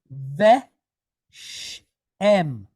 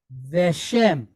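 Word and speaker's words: וְשֵׁם: So we have ve, sh, em, veshem, veshem, okay?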